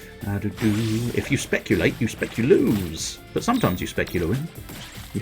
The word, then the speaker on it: speculoos: Because I think technically it's meant to be pronounced speculoos, but, I mean, let's be honest, it's got loo in the end of the word, so for me it's always going to be speculoos.